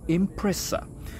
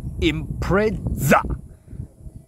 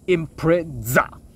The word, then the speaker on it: Impreza: pronounce it not by impressa you should call it impra please action right here impra this name comes from impression but impression is too light at pronunciation so they get the S to Z so it should be